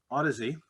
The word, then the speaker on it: Audeze: from new york um odyssey did i get it right that's actually correct okay cool all right